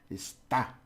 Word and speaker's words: está: Está. Está. Okay, está. So it might not sound very different. Esta and está.